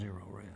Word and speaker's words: Zerorez: No matter how you spell it, it's Zerorez.